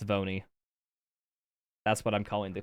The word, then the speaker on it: V1: looking for no but V1 just spell out one and pronounce it it's vony that's what I'm calling